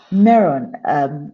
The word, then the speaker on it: Meron: And it's as a result of that passion that when I got an invitation from Meron, is that the proper pronunciation?